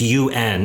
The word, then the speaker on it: un: word like the number one in in france in french is it's un it's spelled this way so an english speaker goes oh is that on or oon or something like that and it's uh